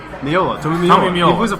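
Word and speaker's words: Meola: Tomi Amio. Miola.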